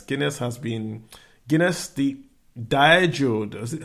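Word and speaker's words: Diageo: asking what's Guinness Guinness has been Guinness the Dio is how it's pronounced dieo the Irish firm or the foreign firm has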